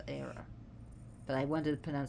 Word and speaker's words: Hera: I should say Zeus, because Zeus is pronounced Zeus and Hera is pronounced Era.